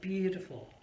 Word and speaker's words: beautiful: this again beautiful you're beautiful yes the stress is on the first syllable bew and then t full are the softer one so it's really